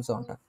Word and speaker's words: Sonntag: আম জামস্টাগ, আর রবিবারে und am Sonntag, আম জন্টাগ।